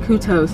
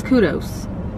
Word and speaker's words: kudos: drinks ashley was saying kutos to slim chickens and i was like it's kudos no it's cute though there's a d and not a t okay k-u-d-o-s how are